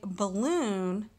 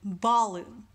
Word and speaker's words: balloon: and there's loot and we say balloon rather than ba Lu so in that case